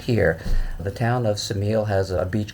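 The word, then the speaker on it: Ksamil: adjoins it which is called samil which is actually spelled with a K samil is a huge Retreat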